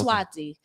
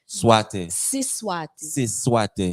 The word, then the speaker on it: siSwati: So Siswati, a lot of people hear Swaziland and they think Swahili. It's not Swahili. Yeah, it's Siswati. Siswati. Yes, gotcha. Siswati.